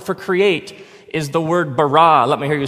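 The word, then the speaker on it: בָּרָא: now the word for create is the word barah let me hear you say barah it's this forceful energetic word of making things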